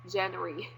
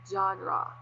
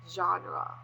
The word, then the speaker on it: genre: was in elementary I first read it as jry yeah but actually it is pronounced as genre genre okay so what is a genre a genre